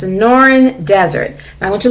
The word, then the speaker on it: Sonoran: you can look that it's supposed to be pronounced so it's sonoran in non-fiction text we might also see captions